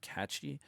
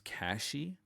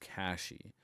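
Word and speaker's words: Cachy: I always want to pronounce it Ka-chi, but I guess it's Ka-shi OS. Um or at least I more most frequently I hear it pronounced Ka-shi.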